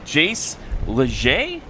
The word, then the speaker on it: Jace Leger: Also, from our broadcast team, Skip from our broadcast team says, hey, Jace Leger? Did I pronounce that right? That's correct.